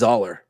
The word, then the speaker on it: Zahler: It's Zahler.